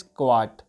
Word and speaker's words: Kyat: इसकी currency is क्वाट, क्वाट KYAT, क्वाट।